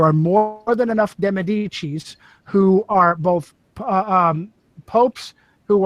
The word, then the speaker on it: Medici: There are more than enough De Medicis who are both popes who are supposedly celibate, and other De Medicis who are not, who can carry on the family name. So it's pronounced Medici. And that's very interesting that